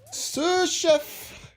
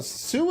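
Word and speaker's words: sous: to deal with it suf is that's not really how Sue is spelled like for like a kitchen suf it's spelled like s u ex or something right how you spell Sue for as in Sue Chef oh yeah s o u s like the doctor kind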